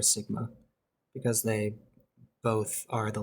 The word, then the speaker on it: sigma: greek alphabet it's the letter s and it's pronounced sigma um pronounced sigma it's a capital sigma this is a lowercase